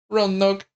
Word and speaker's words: Roanoke: How would you pronounce that? Roanoke.